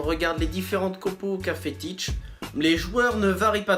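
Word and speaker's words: Tite: à peine trois ans et grâce à l'entraîneur teach et n'ont pas quitté comment pour les croire pouvait s'intégrer comme ça et ça se prononce comme ça each et donc le successeur de dunga qui a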